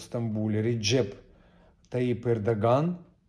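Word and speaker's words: Erdoğan: И на каждом Эрдоган, правильно говорить, Эрдоган, вот так с рукой.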